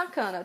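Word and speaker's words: さかな: gente não fala só sakana tá essa canalha um gol igual eu falei em japonês a última sílaba normalmente é a mais forte então gente deu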